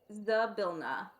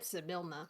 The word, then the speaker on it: Zybilna: So I wrote it And in Zamilna. no particular order. There's a B in there, right? Zabilna. I had Sibilna, so.